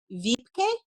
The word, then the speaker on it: Wiebke: I happy to join you I'm going to mispronounce your name is it VPK yes oh yay I did it all right